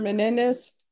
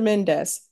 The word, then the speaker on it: Mendes: the record all right Mr Menendez Mendes and I don't know why I'm adding extra syllables so Mr Mendes all of the documents